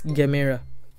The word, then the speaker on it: Gemera: the Gemera, or the, I like to say Gemera. I'm pretty sure that's how they spell it in Swedish, and that's how we say it in German. So I'm pretty sure it's Gemera.